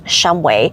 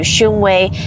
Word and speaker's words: Shumway: And by the way, the correct pronunciation is Shumway, but with so many people moving in within the last several decades, the pronunciation has morphed into Shumway, and I have seen people call it both Shumway and Shumway neighborhood.